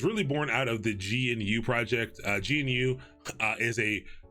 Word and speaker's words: GNU: And the goal of the GNU project, I forgot what GNU stands for. Some people will pronounce it GNU. I say GNU because it's weird saying GNU. But GNU Linux was to